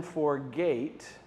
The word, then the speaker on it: forget: forgot the second time for gate which rhymes with great so let's do letter